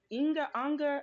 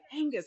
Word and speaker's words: Angus: A lot of people kind of mispronounce it, say Inga Unger. I'm like Angus, like the beef, or Angus, like Angus. ACDC. You remember the guitar player in ACDC? His name is Angus.